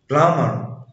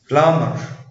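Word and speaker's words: plumber: لا ينطق حرف بي اذا جاء قبله حرف ام، يعني حرف بي ما بينطقش لو جه قبليه حرف الام. مثل كوم كلايم بوم دام بلامر. اجين كوم كلايم بوم دام بلامر. يبقى ان هو عشان البي جه بعد الام ما تنطقش، بس في استثناءات للقاعدة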